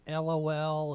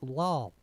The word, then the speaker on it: LOL: Boss to task for pronouncing it lol, because it's not a word. It's an abbreviation. It's LOL. It's not lol.